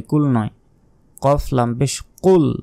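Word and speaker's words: قُلْ: নয় কফ লাম পেশ কুল মোটা কফ অক্ষর উচ্চারণ হবে এখানে কিন্তু কাফ নাই এখানে আছে কফটা মোটা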